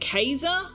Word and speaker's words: Caesar: Whenever members of Caesar's Legion said it, they pronounced it Kaza. What? That's what? No. Well, actually I say that but I don't maybe it was Kasa but we've always pronounced it Caesar.